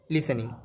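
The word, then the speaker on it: listening: আর দেখো এই লিস্টেন আছে, এটা লিস্টেনিং বা লিসেনিং হবে, উচ্চারণটা লিসেনিং, LISING।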